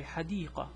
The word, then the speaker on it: حديقة: So this one is pronounced as a T. This one is pronounced as an H, a silent H.